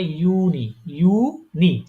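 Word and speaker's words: Juni: উচ্চারণ হবে ইউনি মানে কি জানেন? ওটা হচ্ছে কি ওই জুন জুলাই বলি না? হ্যাঁ, ওরা জুনকে বলে ইউনি, জুলাইকে বলে ইউলি।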